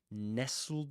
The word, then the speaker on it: nestled: Just like you don't say castl. You castle. You say castle. Yeah. You don't pronounce the tur there.